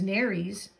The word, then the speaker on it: nares: these two holes is Nares it helpful it's helpful to know that the word rhymes with fairies nurse sharks have whiskers